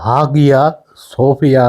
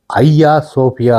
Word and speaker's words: Hagia Sophia: முதலில் இந்த பெயரை எப்படி உச்சரிப்பது என்பது பலருக்கு தெரியாமல் இருக்கலாம். ஆங்கில உச்சரிப்பின் படி ஆகியா சோபியா என்று பிளையாக உச்சரிப்பீர்கள். உண்மையில் இதை ஐயா சோபியா என்றுதான் சொல்ல வேண்டும். இது உண்மையில் ஒரு கிரேக்க மொழிச்சொல் கிரேக்க மொழியில் ஐயா என்றால் புனிதமானது என்று அர்த்தம். உதாரணத்துக்கு புனித அந்தோனியார் என்றால் ஐயா